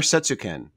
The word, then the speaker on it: Setsuken: Setsuken or Setsuken? Setsuken. That's what I thought. It's not really a Japanese word, so yeah, that's just the pronunciation I chose for it.